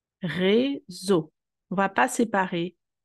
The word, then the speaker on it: réseau: Entre le E et le S, Réseau. On ne va pas séparer les trois lettres, les trois voyelles, et les trois voyelles créent le son O. Réseau.